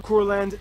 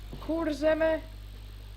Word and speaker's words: Kurzeme: Hey, I know You mispronounced all of them. I know there's gonna be a lot of mispronouncing, but it's Kurzeme, Zemgale, Latgale, Vidzeme, and Periga. Pieriga. Not Perigale.